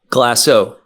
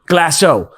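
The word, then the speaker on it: Glacéau: - Glaceau. - Glaceau, what did you do at Glaceau?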